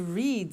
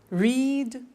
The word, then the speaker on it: read: make made meet met read read notice that now read and read are written exactly the same but the pronunciation changes in the past tense read read say said